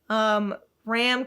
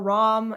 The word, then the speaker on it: Ram: Ram comes in last, or Rom. I know it's spelled Ram, but it's Rom. Because it's Ramsey. But in the audiobook, they say Rom.